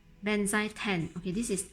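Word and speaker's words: Benzaiten: but let me quickly show you how I pronounce it correctly. Benzai 10.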